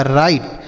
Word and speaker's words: write: आगे लिखा है WRITE, तो WRIT तो यहाँ पर बच्चों W साइलेंट होगा, मतलब इसे हम नहीं पढ़ेंगे। R से पढ़ेंगे र, I का उच्चारण होगा I और TE से ट, यह लिखा राइट, मतलब होता है लिखना।